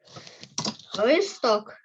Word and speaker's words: листок: будемо списати наступне слово листок перевірне листя листя пишемо листок перевірне листя якщо листок то наголос на О А листя наголос на